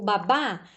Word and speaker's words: babá: Então, o babá, aonde nós colocaríamos esta palavra? Aqui, na última coluna. Por quê? Porque a última sílaba é babá.